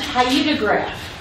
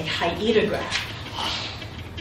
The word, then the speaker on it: hyetograph: An event hyetograph, that's how you pronounce it, a hyetograph, shows the distribution of precipitation over time.